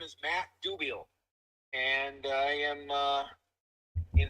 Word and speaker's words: Dubiel: it would be good to start on the pronunciation of your last name all right sounds good uh my name is Matt dubiel and I am uh in suburban Chicago I'm